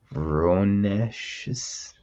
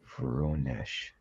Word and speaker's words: Voronezh: Voronezh. Oh boy. Vaughn, you'll have to teach me that in person one day. Voronezh.